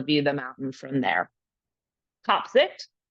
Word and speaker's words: Kaapzicht: the mountain from there topsi which is not the right pronunciation but I'm not going to tread German is German for